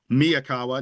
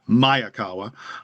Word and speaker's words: Miyakawa: By the way, Miaawa, not Mayakawa. There are people who pronounce his name wrong.